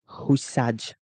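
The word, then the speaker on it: Hysaj: Lazzari coming off, and is Husa Husaj rather. That's how I would rather prefer to pronounce his name.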